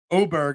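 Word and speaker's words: Åberg: Oberg, I had no idea that Oberg's name was Oberg and not Aberg, but that's a different story.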